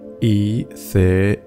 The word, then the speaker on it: ethereal: Ethereal. Ethereal. For a long time I pronounced this word incorrectly by saying ethereal, and it does make me wonder how many other words I'm currently butchering.